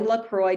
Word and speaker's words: LaCroix: and now everybody can say my name and that's spelled l a c iix so lacroy decom and um on social media I'm